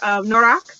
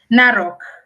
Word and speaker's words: Narok: to go out to, I always pronounce it wrong, and I'm so sorry to anyone who lives out there, Norak, which is you can say it correctly for me. Narok. No, yeah, it won't roll off my tongue the same.